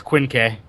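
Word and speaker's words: Quinque: just looked at it it's Quin K oh that's how you say it or is that like I I know that SP it's like I have no idea how to pronounce a q in G that's the romanization of it so Quinn K so the Quin K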